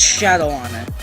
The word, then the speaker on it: Shadowon: and in case you didn't know how to pronounce the one world it's Shadow honor okay now that I got that out of